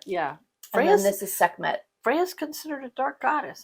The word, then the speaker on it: Sekhmet: And I am stitching, is it Bakhmet? Is that how you pronounce it? Sekhmet? Sekhmet, sorry. Sekhmet, yeah.